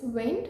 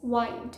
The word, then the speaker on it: wind: eighth word is this one of the pronunciations is wind which means the natural mement of air the second pronunciation of this word is wind which means to twist or coil for example the wind